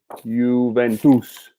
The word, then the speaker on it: Juventus: So, you, then tus. First you and last you pronounce them in the same way. Juventus.